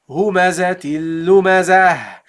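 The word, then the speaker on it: هُمَزَةٍ لُّمَزَةٍ: You drop the two dots and you pronounce it as a ha. Okay, so you say humazatilumazah, humazatilumazah. This is how you read it, guys.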